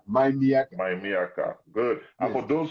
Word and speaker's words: MyMIYAKA: Did I pronounce it well? My Miyaka. My Miyaka. My Miyaka.